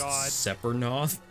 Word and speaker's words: Sephiroth: integrated with the light stream and become It's pronounced Sephiroth.